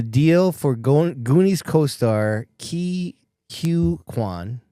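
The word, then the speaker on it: Quan: He negotiated the deal for Goonies co-star Hugh Kwan, I think is how you say his Kwan.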